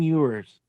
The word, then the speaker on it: Ewers: Quinn Ewers. Quinn Ewers. Jesus Texas Christ. Longhorns. That rhymes with manure, doesn't it?